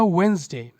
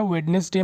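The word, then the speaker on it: Wednesday: पर सही है तो इसका एग्जैक्ट प्रोनंसिएशन क्या होगा वेनसडे ठीक है तो इसको याद रखिएगा वेनसडे ही बोलिएगा वेडनेसडे मत बोलिएगा अगला वर्ड है बोल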